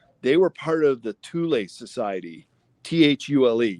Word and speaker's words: Thule: were part of the Thule Society, Thule. You could also pronounce it Thule, but I pronounce it Thule.